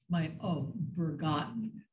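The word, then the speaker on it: Berggarten: It's Bergarten.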